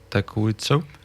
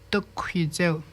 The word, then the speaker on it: Tokuitsu: Takuitsu? Oui, mais on le prononce Tokuitsu.